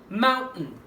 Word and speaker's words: mountain: التي احذفها خالص كانها مش موجوده، استعملها زي الهمزه كده وانطق اللي بعديها ان فهتبقى ازاي؟ شيل التي ان mountain.